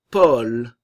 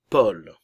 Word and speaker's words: Paul: Paul. Le A et le U se prononcent O. Paul.